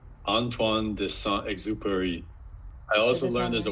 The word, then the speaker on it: Antoine de Saint-Exupéry: I don't really know how to pronounce it well. My French tells me it's Antoine de Saint-Exupéry.